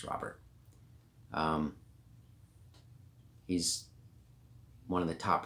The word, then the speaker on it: Robert: So for those that don't know, Luis Robert is, and his name is Robert, not Robert. People like to pronounce it Robert. It's Robert.